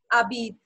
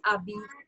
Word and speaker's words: habite: Abid. So this is Abid. Okay. H is silent. Habite.